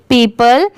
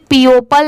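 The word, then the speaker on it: people: पी ई ओ पी एल ई पीपल। अगर यहां पर वर्ड टू वर्ड प्रोनाउंस करें तो इसे पीओपल नहीं पढ़ेंगे। इसकी साउंड भी अलग आ रही है। पीपल ठीक है?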